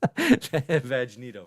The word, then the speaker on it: Vegeta: vegetta I'm seeing V Vegeta Jordan here in in the chat says it's pronounced Vago vagito very well done okay